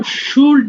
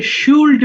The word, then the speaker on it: should: আচ্ছা আমরা এটাকে অবশ্যই কেউ যেন শুড না বলে ফেলি, অনেকে এল এর উচ্চারণ থাকাতে অনেকে শুল্ড বলে ফেলতে পারো, এল উচ্চারণটা কিন্তু এখানে হবে না।